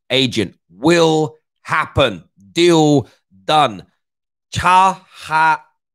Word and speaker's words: Çalhanoğlu: Çalhanoğlu. I think it's pronounced that way.